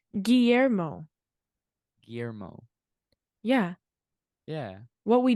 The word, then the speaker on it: Guillermo: It's the you don't pronounce the L though. Guillermo. I've been saying it yet like Guillermo.